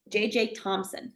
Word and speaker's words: Thomson: Thomson. And if you look at the way his name is spelled, usually the last name Thomson is Thompson. There's no P in his name. He's J.J. Thomson. So he had experiments.